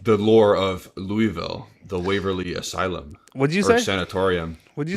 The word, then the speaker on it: Louisville: there we go now you know how to pronounce the city it's Louisville say it like you got a mouthful bourbon